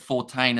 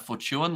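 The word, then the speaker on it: Fortuin: thing as a kiwi I learned today that 14 is how you say uh the Spinner's name whereas if I was to say it in a kiwi accent you'd probably go something like Fortune like I mentioned Nokia's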